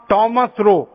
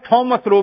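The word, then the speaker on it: Thomas Roe: भारत में आया था उसका नाम था टॉमस रो अंग्रेज उसको टॉमस रो भी कहते थॉमस रो भी कहते हैं दोनों उच्चारण उसके नाम के हैं तो थॉमस रो पहला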